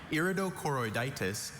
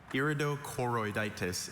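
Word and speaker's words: iridochoroiditis: And you could clearly hear Ben Dr. Mock pronouncing that. But you're so used to hearing the schwa. Maybe your ear just tunes that.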